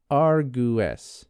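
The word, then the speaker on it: argẃes: So A R G W accented E S is pronounced argu. Does that make sense? So the W is like its own ooh sound.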